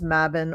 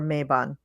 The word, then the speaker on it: Mabon: So there's the spring equinox, which is Ostara, and there is the fall equinox, which is Mabon or Mabon. Our coven now, we say Mabon. When we started out, we said Mabon.